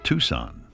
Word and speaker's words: Tucson: a quick line from somewhere south of Tucson pronounced Tucson I know why the Confederates lost they were